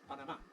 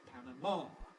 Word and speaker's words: Panama: city in Central America whose Spanish name is Panama Spanish Panama as final stress all right we turn it into English vows we get Panama final stress what do Americans mostly say Panama why because of the Panama Canal or a Panama Hat Panama double stress stress shift Panama Hat Panama Canal Panama City and from that